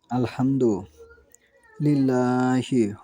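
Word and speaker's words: الحمد لله: হয়েছে যেমন আমি এখানে উপস্থাপন করি অনেকে বলে আলহামদুলিল্লাহ এটা ঠিক নয় আলহামদু লিল্লাহ এভাবে বলতে হবে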